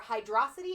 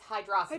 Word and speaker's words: Hydrocity: The options are Hydrocity or Hydro City. It's one word, so in my opinion, it's hydrosity. Hydrosity, yeah. You know, like Metrocity in in that Megamind. one.